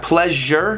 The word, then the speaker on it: pleasure: measure pleasure or measure the sound in words such as pleasure and measure is often difficult for native germans to pronounce the result is often a break in the middle of the word which makes it sound more like mis her than the sound so yeah pleasure measure listen to my pronunciation pleasure me it's like a j it's like a little j you know what i'm